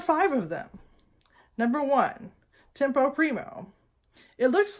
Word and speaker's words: tempo primo: so here are five of them number one tempo primo it looks like tempo one in your score and it's pronounced tempo Primo all right got it good